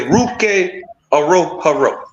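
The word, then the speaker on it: Ruke Orhorhoro: they pronounced the name uh the the correct pronunciation is ruk AO Haro yeah that's him but what I'm saying they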